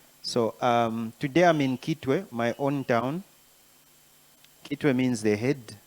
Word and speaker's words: Kitwe: For those who don't know, who are watching, it's just Chitway. It's C H I Chu. But because the Europeans and the Americans didn't know how to pronounce Chitway, so they decided to say Gitway.